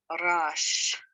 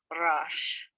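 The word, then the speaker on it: ריש: rash next one is rash notice it is one syllable rash which is an r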